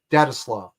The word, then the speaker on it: Daetslov: It's Volstead backwards. I'm not even kidding. And I learned how to pronounce it by just thinking about the sounds I was making and going backwards. That's how I came to the pronunciation of Daetslov.